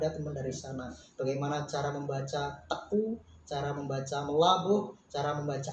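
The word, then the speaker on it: Teuku: Kenapa teku itu bacanya teku bukan tengku dan lain sebagainya.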